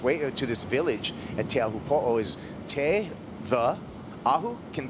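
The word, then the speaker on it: Teahupoʻo: People say Teahupo'o or Teahupo'o. It's just really, if you respect kind of the okina, or that mark that's in between the two O's.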